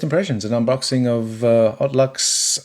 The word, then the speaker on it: Haute Luxe: an unboxing of uh odd Lux uh the odd Lux hot Lux hot Lux let's say it like a Frenchie Lux um and this